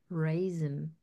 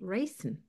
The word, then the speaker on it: raisin: And then later, for instance, we have the word raisin, which is spelled with the letter S, but it's pronounced with a zebra sound. So Mhm. people like me, I used to say raisin.